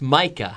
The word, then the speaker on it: Micah: Because I said Mika, but it's Micah.